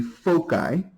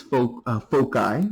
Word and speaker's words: foci: If you take more than one, the plural of focus is foci, or depending on how some people pronounce it, foci. Either one would be acceptable.